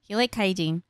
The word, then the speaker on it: Kaijin: So because Rimuru liked Kaijin. So he took him back to his village. Rhymes with hygiene, Kaijin.